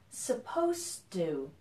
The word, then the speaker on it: supposed to: So first thing is that there's a pronunciation difference between suppose, which ends with a Z sound, suppose, and supposed to. So they're spelled very similarly, but in this one, the S sounds like a Z, and in this one, the S sounds like an S.